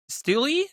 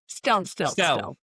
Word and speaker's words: Stelte: The one and only, is it Steele? Is that how you say it? I'm terrible last name. I Okay, apologize. Stell.